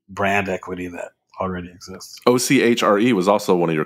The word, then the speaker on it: Ochre: I don't like okra. I don't want any okra. I'm like, no, it's ochre.